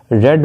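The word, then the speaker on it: read: रेड बाय यू दी इसे रीड की second और थर्ड फॉर्म के स्पेलिंग तो से है लेकिन प्रनंसीएशन डिफरेंट है यानी रीड रेड रेड स्पेलिंग से रहेगी लेकिन सेकंड और थर्ड फॉर्म को रेड प्रनंसीएट करेंगे नेक्स्ट है लर्निंग डी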